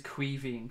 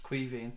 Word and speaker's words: Caoimhín: Just in case anybody ever wondered about how you pronounce his first name, it is Caoimhín Kelleher. Caoimhín is the Irish for Kevin, so his name's actually Kevin Kelleher, but it's Caoimhín is how it's pronounced.